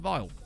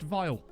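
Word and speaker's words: Vejle: he's very good uh so apparently it's actually pronounced vile uh fun fact one of the other things i learned about managing world management denmark is that it's actually pronounced vile wouldn't think it i always pronounce it as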